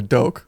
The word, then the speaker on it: Doke: myself my name uh this this is the pronunciation my friends are till this day they are calling me doke wow and uh yeah but it didn't really